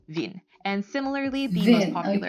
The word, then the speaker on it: Wien: in mind is that the W in German is pronounced like a V sound. Now, the most prominent example of this is going to be the German name of Vienna, which is Wien.